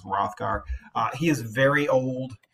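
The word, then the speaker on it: Hrothgar: King of the Danes that AG is silent so his name sort of comes off as rothgar uh he is very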